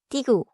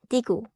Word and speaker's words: 디귿: First sound, digu. Written digu.